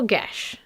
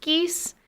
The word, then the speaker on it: geas: segment I'm calling special gash because we all thought it was pronounced geese and I want to use what Google says is the correct pronunciation rasma is my bestest